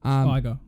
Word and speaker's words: Iger: Iger. Iger? Yep. But it's ER. It's not, it's IGER. It's still Iger. Okay, fine. Wait. No. You might be right. Like Tiger, but a T. Iger.